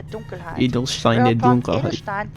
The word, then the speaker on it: Dunkelheit: correct pronunciation would be Edelstein der Dunkelheit.